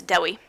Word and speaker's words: Dewi: Anyway, he's fantastic, and his name looks like Dewey. It's not pronounced Dewey. It's Dewi. It's Welsh.